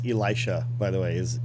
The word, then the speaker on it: Elisha: That's how you pronounce Elisha, by the way, is Elisha. That's how you pronounce it. It's very Hebrew.